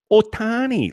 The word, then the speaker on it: Ohtani: Say it like Pete just did. Just try to mimic a Japanese accent, because that sounds much better.